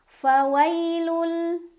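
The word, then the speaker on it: فَوَيْلٌ: Ada huruf lin karena ada ya sukun sebelumnya ada huruf berbaris fathah. Cara bacanya dilunakan atau dilembutkan. Fawailul. Ada idgham bila gunnah karena ada tanwin dhammah yang bertemu huruf lam. Cara bacanya tanwinnya dimasukkan ke lam tanpa berdengung.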